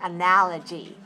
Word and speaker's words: analogy: and analogy an analogy how many syllables are we do we hear in this word analogy four four four and where is this where is the stress analogy 4 two good watch me and do